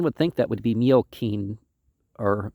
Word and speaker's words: Miocene: Now, one would think that would be Miocene or Miocene, but we pronounce it scene, so we don't use the Latin pronunciation where the C's are always the K sound.